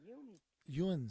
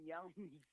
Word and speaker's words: yinz: Yeah, Yuns. I love. No, I'm not from London. That's the name. Instead of saying you all, we say yuns.